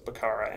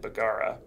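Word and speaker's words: Baggara: nomads in our research we've seen both pronunciations baqara and begorrah his father Mohammed Cara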